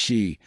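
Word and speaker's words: sídhe: In Irish mythology, for instance, the city, pronounced shei, are the people of the mounds, the ancient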